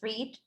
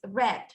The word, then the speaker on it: read: For example, put, hit are pronounced the same, but read, even though they spell the same, in present it's read, and in past is read as the color.